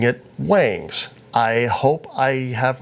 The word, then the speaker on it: Wangs: First off, it is spelled W-A-N-G-S, so I was initially pronouncing it Wangs.